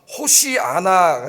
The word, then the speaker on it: 호시아나: 호산나이 말을 이제 히브리어로 말하면은 호시아나가 됩니다.